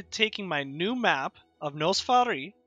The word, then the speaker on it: Noss Farii: What we're going to be doing is I'm going to be taking my new map of Nos Farii, which is how you say it, and I'm going to be making a regional map.